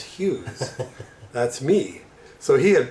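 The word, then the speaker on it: ヒューズ: Now, Japanese pronounce fuse as Hughes.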